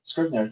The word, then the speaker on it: Scrivener: All right, another question is, I don't know how to pronounce this word. You told me no. Scrivener. Scrivener. Scrivener, thank you.